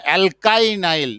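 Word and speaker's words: alkynyl: অ্যালকিনাইল, আর এটা হলো অ্যালকাইনাইল। এটা অ্যালকিনাইল, আর এটার উচ্চারণ করব অ্যালকাই, কে ওয়াই কাই।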